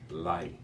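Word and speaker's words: לָהּ: Notice the very slight I sound at the end of the H. It is lie. Okay. You're tempted to pronounce it as just la. And if you do, you can actually get by with it, because the pronunciation of the herrick, not the herrick, but the doggish inside the hay is very, very slight.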